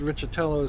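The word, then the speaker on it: Riccitiello: years ago this month the EA CEO John richardelli Tello that's r-i-c-c-i-t-i-e-l-o and the only reason I can tell you it's pronounced richatelos because I've heard it before uh eaco gets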